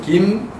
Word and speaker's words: Kim: So it's a 3 syllable in Korean way. So Kim, An, Du, Ryu, Gi, Hun.